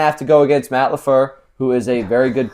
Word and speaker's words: LaFleur: If they continue to do so, they are going to beat the Packers and Matt LaFleur. Okay? Yeah, that's the right way to pronounce it.